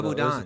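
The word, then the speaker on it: sabudana: Shubadam? Tiki, like a tiki? No, that's a potato. Oh, no, those are sabudan.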